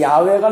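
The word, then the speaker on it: 야훼: 우리가 여호와라고 부르는 그 여호와는 사실은 아 원어로 그 원인 그 발음은 소리는 야외입니다. 여러분이 아시다시피 근데 그 야외가 너무 거룩한 이름이기 때문에 우리 한국 사람들하고 비슷해요.은 이름을 함부로 이렇게 부르지 못하잖아요.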